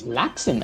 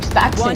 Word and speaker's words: Slaxon: I think we have been pronouncing his name wrong. It's Laxon. Okay, never mind. It is Slaxon. So, what did you think it was? I was calling him Staxon the entire time.